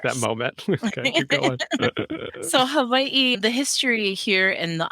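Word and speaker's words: Hawaiʻi: repeat it's hav hav the W is sometimes pronounced as a v but there's definitely what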